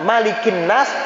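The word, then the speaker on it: ملك الناس: menyebutkan bittifaqil qurra, kalimat Malikin Nas itu sudah disepakati oleh semua ahli qiraat. Nggak ada yang baca Malikin Nas dibaca panjang maknya. Salah, keliru itu.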